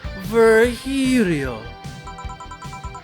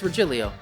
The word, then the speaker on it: Virgilio: It is pronounced Virgilio. No, I'm pretty sure it's Virgilio.